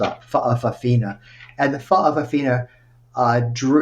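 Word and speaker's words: fa'afafine: biological males called faaa It's pronounced with a gloal Stu faaa and the fa Aina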